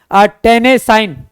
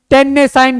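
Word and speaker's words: Tennessine: उसे, TENNI और ESSIN, अब इसे क्या पढ़े, टेनेसाइन, टेनेसाइन जो है एक ये है, ये हैलोजन परिवार के तत्व हैं, तो ये आपको याद रखना है।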